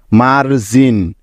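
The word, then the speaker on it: margin: কারণ লক্ষ্য করে দেখো এখানে জি এরপরে আই আছে আর আমরা জানি যে জি এরপরে আই থাকলে ওই জি এর উচ্চারণটা জ হয় তাইতো সেজন্য নিয়ে নিলাম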